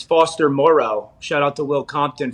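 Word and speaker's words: Foster Moreau: for people to pay attention to and it's foster morrow shout out to will compton for the proper pronunciation of that but you know the the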